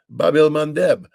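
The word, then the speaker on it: Bab el-Mandeb: the hoody shut down the Red Sea the Babel mandb I finally said it right and um they've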